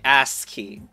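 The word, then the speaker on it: ASCII: know that was cuz you pronounced it butt key I mean ass key so I guess I'm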